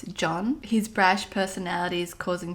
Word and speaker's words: Jean: the names incorrectly but i was pronouncing his name as jean but it's from what i just heard it's john his brash personality is